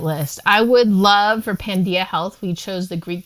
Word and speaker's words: Pandia: it and spell it pan is every and Dia is day we want to be